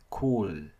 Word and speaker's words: cool: Cool. Nhớ phát âm âm L. Ok. Cool. Không nói cool. Ok. Nhiều bạn nói cool. It's cool. It's cool. Là nói không có âm L.